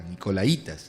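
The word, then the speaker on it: nicolaítas: Pero tienes esto, que aborreces las obras de los nicolaitas, Los nicolaitas eran una secta, nicolaitas, me corrigen acá, nicolaitas, acento en la I.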